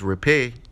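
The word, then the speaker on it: rapé: and beautiful healing medicine it is pronounced repay in Spanish or most more commonly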